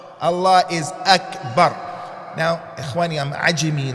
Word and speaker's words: Akbar: Allah is not Wakbar. Allah is Akbar.